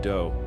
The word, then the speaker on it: Do: Appawite but his friends called him do which rhymes with Joe don't know if Joe